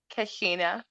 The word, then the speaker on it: Keshena: this one do you think i'm sorry and pronounce your name for me because i don't want to say it wrong kashina cassina uh-huh yeah okay i'm sorry oh i just